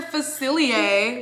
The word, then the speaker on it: Facilier: said it earlier cecilia i literally could not pronounce that so mr facilier was that correct yeah okay let's see